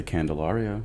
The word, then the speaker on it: Candelario: your last name uh you can say candelario candelario because I watched the